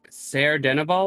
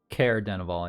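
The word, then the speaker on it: Caer-Dineval: made it all the way up to uh sarah dennival i believe it is care denivole yeah care that's it you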